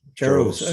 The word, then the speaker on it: Jarosz: I think, is it Jarosz? Yeah. Is that how you pronounce that? Sarah Jarosz. Jarosz.